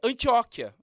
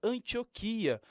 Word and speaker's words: Antioquia: que muitas vezes acontece é antióquia já ouviu falar que São Paulo passou pela mandioca não que é na antióquia na verdade é Antioquia a palavra não tem acento Então por que dar ênfase a à letra O né entendendo tudo isto a